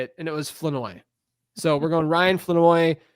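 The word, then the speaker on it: Flournoy: Ryan Fenoi, some people say Floreninoi, but I listen to Floweroi is I listened to pronunciations for about 20 minutes the other day and uh it's Fenoi.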